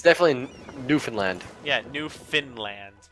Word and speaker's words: Newfoundland: I got moose factory Newfoundland yes nice I got moose factory it's the neighborhood it's literally fun new found land its Newfoundland well I I pronounce